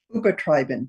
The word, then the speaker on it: übertreiben: Übertreiben, to overdo. Übertreiben. Übertreiben. Make sure to emphasize the second part. You can see it here from the dashes. Yeah, übertreiben, because this is not a separate verb.